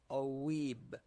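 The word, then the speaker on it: ⲟⲩⲏⲃ: Fourth example oueeb omicron epsilon eta vita and the vita here is the last letter in the word so we say oueeb means priest.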